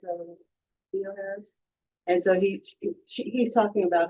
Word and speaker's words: Theoharis: Pronounce it Theoharis.